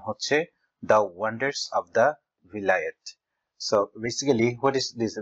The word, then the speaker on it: Vilayet: সো সেই ভাষায় ইংল্যান্ডকে বিলেত বলা হয়, যেটাকে ইংলিশে উচ্চারণ করলে হয় ভিলায়েত।